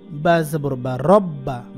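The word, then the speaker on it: رَبَّ: এবং নিজে নিজে একবার আমি যেটা যদি আপনাকে পড়ে শোনাই রব্বা দুইবার উচ্চারণ হলো কারণ এটার উপরে তাসদীদ আছে যে এটাকে তাসদীদ বলে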